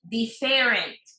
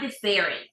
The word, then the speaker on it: different: Different. No. It's not different. En español decimos diferente. El acento cae en E. Diferente. But in English, it's in the first syllable.